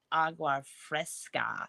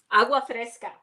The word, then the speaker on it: agua fresca: I made my own agua fresca. How do you say it, Rebecca? Agua fresca. Yes, agua fresca.